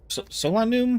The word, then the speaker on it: Solanum: Solanum.